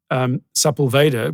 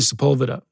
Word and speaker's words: Sepulveda: that Lee and I called Sepulveda because it's spelled like that, but it's actually Sepulveda.